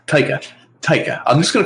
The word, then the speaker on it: Taika: I read is it Taika? Jesus Christ, I keep getting the director's name wrong. Taika.